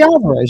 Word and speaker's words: Fede Alvarez: Is that how you pronounce his first name? Fede Alvarez, yeah.